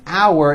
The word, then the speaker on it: our: the second word our has that ow sound like in the word out and it sort of